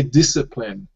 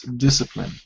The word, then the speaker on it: discipline: yeah good yeah see in English we say discipline the the C the C uh is swallowed by the S so it's discipline discipline excellent well done um